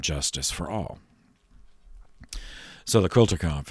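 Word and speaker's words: Kulturkampf: equity fairness and justice for all so the quilter conf it's a it's a german term that's generally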